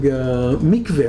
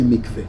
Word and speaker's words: mikveh: Actually, her specialty is history of architecture, and she's now researching mikveh. How do you say mikveh? The mikveh. It's a mikveh. It's a mikveh. Mikveh is a mikveh.